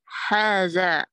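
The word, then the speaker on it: هذا: Haza is pronounced haza, but it is written without the first alif.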